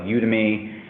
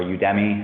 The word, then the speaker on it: Udemy: And then I looked for training courses on stuff like Udemy, or Udemy, I guess is the right way to say it, on how to like use Power BI.